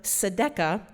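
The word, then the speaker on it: tzedakah: And Judaism has the practice of sedca which does not spell like the way it sounds because I had to write it down so I said it right.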